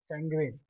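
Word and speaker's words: sanguine: आप लोग उच्चारण पर भी ध्यान दीजिए। सेंग्विन एस ए एन जी यू आई एन ई सेंग्विन। सेंग्विन का मतलब होता है जो हमेशा खुश रहता है।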